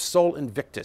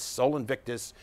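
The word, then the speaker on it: Sol Invictus: have to for forgive my inadequate um Latin pronunciation it was natalis Solus inviti or the birthday of Soul Invictus Soul Invictus the Invincible son Soul Invictus was the official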